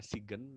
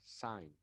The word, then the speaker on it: sign: Kemudian number 10, to write your full name, menandatangani, sign, ditulisnya SIGN, tapi bukan dibaca Sigen ya, tapi dibacanya but you have to pronounce sign ya, sign.